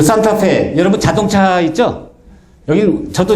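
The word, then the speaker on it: Santa Fe: 그 산타페. 여러분 자동차 있죠? 여기 저도 이제 산타페 했는데 거기 아니라 산타페이라 그러더라고요. 여기 멕시코 발음은 산타페예요.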